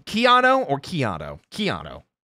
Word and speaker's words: Chiato: Chiato. It's Chiato. Chiato like a macchiato.